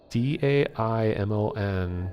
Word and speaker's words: daimon: It's spelled like Daimons. I thought it was just a different a different spelling of demon, but I googled around all over the place, and apparently it is pronounced daimon, something like that.